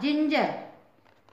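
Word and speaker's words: ginger: अपवाद स्वरूप जी का उचार है उसकी भी स्पेलिंग देख लेते हैं हम उदाहरण जी आई एन जीई आर जिंजर इसका प्रशन है जिंजर जबक इसमें भी जी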